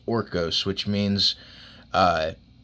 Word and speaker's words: Horkos: the Spartan horkos which I thought it was horcos it's actually pronounced orcos which means uh it's